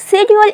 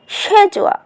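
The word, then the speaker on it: schedule: আমরা এতদিন পরে এসেছি সিডিউল কিন্তু সিডিউল ইজ not correct pronunciation correct pronunciation ইজুয়া সেজুয়া এটি হচ্ছে ব্রিটিশ ল্যাঙ্গুয়েজ তাহলে আমেরিকান ল্যাঙ্গুয়েজে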